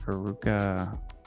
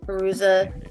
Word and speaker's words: Fairuza: Faruka. Oh. Fairuza Balk?